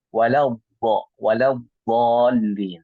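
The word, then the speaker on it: ولا الضالين: Maka kebanyakan dari kita membaca walau dhal pakai do ya. Walau dhal. Padahal sebetulnya yang artinya kita baca atau kita membacanya adalah walau bo ya, bo lebih ke atas lagi, bo ya. Bukan do, bukan do ya. Bukan do walau dhalin tapi walau dhalin seperti itu. Allah mubarik.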